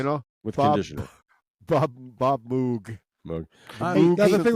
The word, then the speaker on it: Moog: That was Bob Moog himself. He said but he said in English speaking countries they call it that.